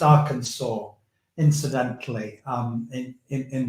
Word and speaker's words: Arkansas: vote it it's pronounced Arkansas incidentally um in in in the states that's how the local people say it as you say that